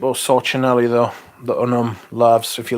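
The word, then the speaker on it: LAVS: unum Unum Laos l-a-v-s but pronounced loves allows I discovered this melt my heart yes that's right too expensive though silly price I highly recommend that Philippe or sochinelli though the Unum loves if you like incense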